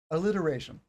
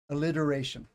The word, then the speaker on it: alliteration: we look at this alliteration some people will say alliteration alliteration with a D sound you don't have to you can say a t sound that's standard pronunciation when